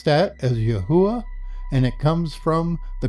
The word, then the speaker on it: Yahweh: actual Hebrew equals yod he V he we pronounce that as Yahweh and it comes from the concordance h 3068